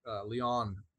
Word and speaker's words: Lyon: by Irenaeus of Lyons, Leon, I think is how you say it actually, in the 2nd century, where he said, God became man that man might become God.